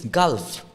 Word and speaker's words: Gulf: not even understand what you said because language pronunciation that doesn't exist exist this fixed right it's fixed Gul it's Gulf so they will be you know they will